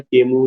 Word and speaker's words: Camus: Albert केमू का, इसका pronunciation केमस नहीं करना, this is केमू, Albert केमू, the myth of Sisyphus.